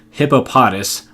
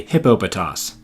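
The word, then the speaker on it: Hippopotas: inflection on each syllable I have pronounced this hippo potus which I should have realized sounds a little too much like hippopotamus but then I read this handbook and I realized that it was actually hippo pitous fortunately it's evolution hippo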